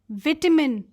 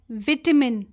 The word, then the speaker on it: vitamin: चाहूँगी that this word vitamin is pronounced either as vitamin. Yes, vitamin D as per British pronunciation and American pronunciation में इसको pronounce करते हैं vitamin D. So you can pronounce it both ways.